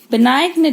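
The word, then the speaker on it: benign: आर, पहला होगा हमारा बिनाइन ट्यूमर, बिनाइन ट्यूमर, जी साइलेंट होता है बेटा, बिनाइन ट्यूमर।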